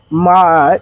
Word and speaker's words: MAJ: I took my initials ma m AJ and called and pronounced it Ma because ma backwards is jam and Ma is the jam and I am